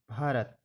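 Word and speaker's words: Bharat: ए आर ए टी भारत बी एच ए एन you Bhanu B एच ए बी एन ए भावना बी के बाद एच आए तो भा बनता है इसके यह उदाहरण है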